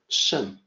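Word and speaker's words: 胜: Shen is the pronunciation in Mandarin, shen.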